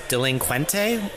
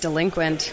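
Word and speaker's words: Delinquente: wrong but the AB delincuente wine company I think you're overly fancy fiying it I think it's just delinquent okay I think okay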